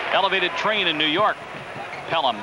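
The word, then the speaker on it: Pelham: train in New York pelum but it's spelled differently matter of fact Walter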